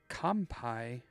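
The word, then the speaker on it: 乾杯: Uh I think this is like the Roman Heburn um is compai. Um but the M in the middle there is actually an N in Japanese.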